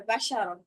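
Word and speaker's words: بَشَرًا: খেয়াল করেন একটা জিনিস, বসরন আর বাশারন বা চাইলে দুইটা একই উচ্চারণ করতে পারতাম, কিন্তু করি নাই। মাখরাজ অনুযায়ী ভিন্ন ভিন্ন উচ্চারণ করছে। অর্থাৎ কেউ যদি এখানে বাসারন বা বাশারন এরকম সদের জায়গায় শিন সিন দুইটার একটা উচ্চারণ করেন, তাহলে হচ্ছে কিন্তু অর্থ পরিবর্তন হয়ে যাবে।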